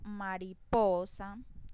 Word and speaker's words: mariposa: Si yo digo mariposa, la mayor intensidad o la mayor fuerza en la voz la hago en la sílaba po.